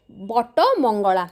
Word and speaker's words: Bata Mangala: नाम है वट मंगला उड़िया में व का उच्चारण इतना नहीं होता जैसे हिंदी में आप वट वृक्ष कहते हैं तो उड़िया में उसको बटो वृक्ष कहा जाता है तो बटो से बटो मंगला जो रास्ते से बाटो